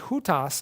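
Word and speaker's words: οὗτος: To say the word this, the word is hutas in the masculine, haute in the feminine, and tuta in the neuter.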